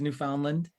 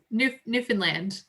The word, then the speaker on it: Newfoundland: i'll go with you newfoundland newfoundland newfoundland yeah it's almost like new finland but like different okay yeah because i've